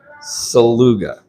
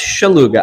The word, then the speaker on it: Szeluga: Yeah, Szeluga. Lu. Like Lou. Ga. Okay. Yeah. Unless you want to say it the Polish way. How do you say that? That's much. It's Szeluga.